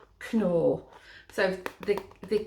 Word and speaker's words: Knorr: incidentally in england this is uh the brand nor which is very very very popular in holland but it's pronounced knorr so the the k and the any like